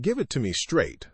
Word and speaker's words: give it to me straight: Pronunciation note, in give it to me straight, the stress goes on straight.